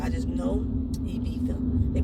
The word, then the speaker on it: Ibiza: So I don't know if any of that is existent in Ibiza. I just know Ibiza. They pronounce it with the TH. The Z, they pronounce it with TH.